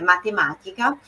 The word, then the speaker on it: matematica: E matemática, o T não tem esse T que a gente costuma dizer, muitos de nós, nem todos. Eu, por exemplo. É matemática.